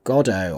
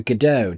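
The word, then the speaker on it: Godot: This is Waiting for Godo or Waiting for GDO, depending on how you want to pronounce.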